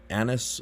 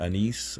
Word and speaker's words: anise: Anis or anise. I've heard people pronounce it both ways.